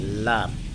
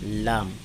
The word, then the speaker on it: লাম: দ আট নম্বর মাখরাজ জিহ্বার আগার কিনারা সামনের উপরের দাঁতের মাড়ির সঙ্গে লাগাইয়া দাঁতের মাটির সঙ্গে লাগাইয়া